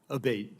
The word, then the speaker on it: Abate: We've heard it pronounced 3 different ways today in the hearing. Abate, Senator.